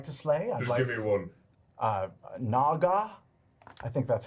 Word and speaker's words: naga: beasts and animals that i'd like to slay naga i think that's how you say it that